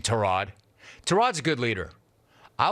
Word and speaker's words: Tyrod: turnovers grab a clipboard enjoy watching tarot like tarad and yes that is how you pronounce his name tarad tarad's a good leader